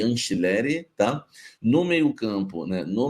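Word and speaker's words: Angileri: Fabrício Anchileri, como se fosse com CH ou com X. Anchileri, tá? Então nós vamos ter Hugo Souza, Mateuzinho, André Ramalho ou Félix Torres, Gustavo Henrique e Anchileri, tá?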